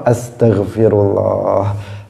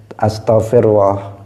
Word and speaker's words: astaghfirullah: agar kita perbanyak ya tadi itu Firli atau astaghfirullah astaghfirullah astaghfirullah kalau dibaca harus benar jangan Astagfirullah karena sebagian orang membacanya Asta dibaca Astaghfirullah ada lagi yang membaca